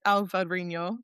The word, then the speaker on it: Alvarinho: They make this slightly effervescent wine with Alvarinho, as they pronounce it in there, that is just incredible in the summer.